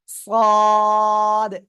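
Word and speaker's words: صاد: আমরা এটা ক্লিয়ার করব এটা মোটা আওয়াজে উচ্চারণ হবে ওই একই জায়গা থেকে জিহ্বার আগা সামনে নিচে দুই দাঁতের পেট ওগার সাথে লাগাবো সদ সদ সদ সবাই একসাথে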